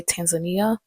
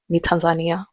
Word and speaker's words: Tanzania: Fun fact, I always try to correct people when they mispronounce this country because they say Tanzania and I'm like no Tanzania.